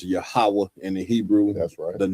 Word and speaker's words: Yahweh: Properly pronounced Yahweh in the Hebrew.